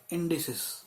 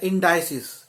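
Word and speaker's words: indices: इसका बोलने का भी तरीका और स्पेलिंग ही बदल जाएगी, आई एन डी ई एक्स आपका आई एन डी आई सी ई एस बन जाएगा, इंडिसिस या इंडाइसिस, ये भी लोग बोलते हैं।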